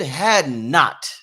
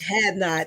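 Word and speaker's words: Hadnot: I be like man it's only two words it's real simple had not first of all rich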